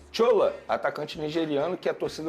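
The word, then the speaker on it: Shola: é o tchola é tchola mesmo que fala olha eu falo porque primeiro ele é nigeriano ele se a o nome dele é assim que se escreve s h o l a aí eu pronuncio dessa maneira é um atacante nigeriano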